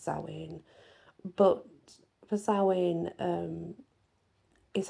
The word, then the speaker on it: Samhain: day and the Samhain by the way it's pronounced saline and spelled Sam Hein pronounced saline but for sowing um is Halloween and I've